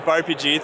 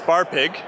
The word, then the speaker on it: BarPG: So we evolved from BarPG thanks to our Dutch followers, yes, who kept mispronouncing it as Bar Pig.